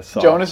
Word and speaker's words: Jonas: Do you pronounce your name Jonas? Jonas, but you can Jonas. Say Jonas. Yeah, that's fine. And why, it's a soft J. Yeah. Jonas J.